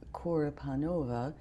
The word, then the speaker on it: Korepanova: So um then the name is Assia as Si Ya and the last name is Kora Panova which is spelled K O R E P A N O V A.